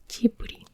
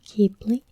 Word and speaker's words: Ghibli: Number 30. Soft G. In Japan, the name is usually pronounced Ghibli, whilst in the West it is more commonly pronounced Ghibli or Ghibli with J sound as giraffe.